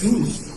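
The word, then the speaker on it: Jesús: But my people pronounce his name as Jesus, or Chewy for short.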